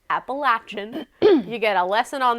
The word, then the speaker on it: Appalachian: was Appalachian State and yes I'm pronouncing it correctly it is not appellation that's what I say Appalachian you get a lesson